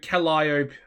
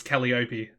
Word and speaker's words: Calliope: pronunciation for her name obviously the liar p is the way you actually say it um and obviously i was saying it as calliope so calliope is how you say it properly just